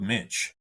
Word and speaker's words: Moench: I just loved was Doug Minch, and it's spelled Moench.